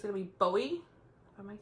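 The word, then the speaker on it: Boie: It's gonna be Bowie. Am I saying it right? Bowie. B-O-I-E. Bowie. We're gonna say Bowie.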